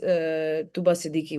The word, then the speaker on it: Atiqa Odho: So Atiqa Atiqa's uh Atiqa Odho why am I saying her name wrong? Atiqa Odho, yeah.